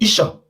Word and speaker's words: Esan: there is nothing like Isa the right pronunciation is ISA because the the white people were pronouncing it because the first letter started from E and in in language